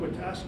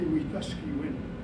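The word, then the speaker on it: Wetaskiwin: road from the reserve it's called withas it's a mispronunciation it's actually wus wi which is a cre word and the word means having good relations that's what reconciliation is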